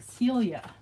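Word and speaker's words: Silje: may be Denmark um she spells her name s-i-l-j e i I think but when I asked her how to pronounce it she said it sounds like Celia and I'm like that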